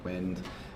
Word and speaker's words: WYND: about the future of inner chain protocols like wind and da and I'm really excited about interchain Dows like Juno very cool can you give a quick intro of what wind Dow is yeah so wind Dow is w